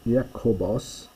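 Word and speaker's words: Ἰάκωβος: the name for Jesus notice Pronunciation here. Yakob Yakobos is James where we get our word Jacob from the Yoda becomes a J in English.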